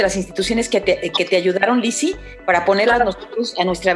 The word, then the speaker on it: Lisi: Lizzy se escribe L-I-S-I, y en Instagram Lizzy-.